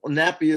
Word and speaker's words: Napi: and i says no nappy is a diaper they said no no brother no no no not n-a-p-p-y n-a-p-i because i is e in hawaii that's why they say wiki-wiki but they spell it w-i-w-i